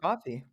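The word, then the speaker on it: Ko-fi: Console Creatures, set up, is it coffee or kofi? I don't remember. I don't really know how to say it out loud. Um, where people can It's coffee. Is it just coffee? I don't know. It's It's spelled K O Fi. So, I don't know. I'm pretty sure it's coffee.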